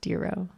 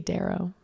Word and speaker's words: Darrow: so you guys know it's pronounced dero i don't know why i keep wanting to say daryl but because you're mexican